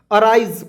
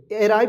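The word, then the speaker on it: arise: इसको क्या पढ़ेंगे दोस्तों अराइज पढ़ेंगे अराइव नहीं पढ़ेंगे अराइज ठीक है राइज नहीं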